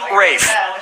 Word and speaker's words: Ralph: fein's first name is spelled like ralph but pronounced rafe no and his brother